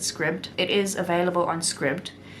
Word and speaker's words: Scribd: it is UNS scribed I always used to say scribed but I heard somebody or I actually heard the audio book narrator of this book pronounce it script it is available on